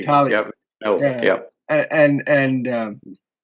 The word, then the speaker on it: Tartaglia: There's no, you don't pronounce the G. Tartaglia.